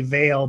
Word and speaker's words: Veal: It's like my last name is actually Vale, but it's spelt veal, so I just kind of go with whatever people decide they want to use.